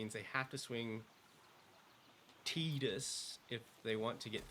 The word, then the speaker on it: Tidus: the game like me, like Tidus. I said Titus my whole life.